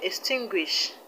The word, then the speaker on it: extinguish: stress is on l-i-n-lin the word extinguish the stress is on t-i-n-t and the word accomplish